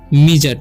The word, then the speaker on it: midget: यहाँ पर लिखा हुआ है MIDGET, ठीक है। तो इसे हम क्या पढ़ते हैं, मिजट, क्या पढ़ेंगे हम, मिजट। यानी कि यहाँ पर भी जो डी जो है साइलेंट है, ठीक है।